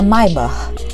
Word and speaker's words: Maybach: A Maybach, é assim mesmo que fala, tá? É uma pronúncia em alemão.